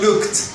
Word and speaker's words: looked: con otros significados variantes la pronunciación looked entonces llegas hasta la k frenas y no pronuncias la e es un vacío fonético look el participio